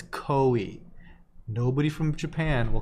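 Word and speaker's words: koi: I'll be right back I've always pronounced it coy yeah so I get into this all the time with my Midwestern friends here ok a hundred percent it is co e nobody from Japan will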